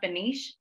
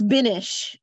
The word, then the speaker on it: Binish: so much for sharing is your name pronounced banish um it's binish finish finish apologies no